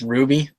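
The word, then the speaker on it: RWBY: It's Ruby, and it's spelt with a W instead of a U.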